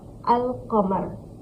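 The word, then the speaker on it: القمر: लाम ज़बर अल, क़ाफ ज़बर क़, मीम रा ज़मर, अल कमर, अल कमर। इसको कैसे प्रोनाउंस करेंगे?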